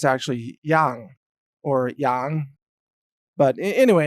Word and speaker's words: Yang: in Chinese it's actually young or young but anyway in English we pronounce it yang like yin yang even though in Chinese that's actually pronounced young but in any case